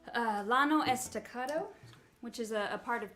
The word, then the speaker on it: Llano Estacado: meet the mesos so it would be in spanish it's the yano estacado but the texans say the llano estacado and it's where my